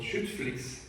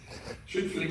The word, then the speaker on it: Schüttflix: Another one which I think is really nice, it's very hard to pronounce for non-Germans, so bear with me, it's called Schüttflix. Schüttflix is actually aggregating trucks as well as sand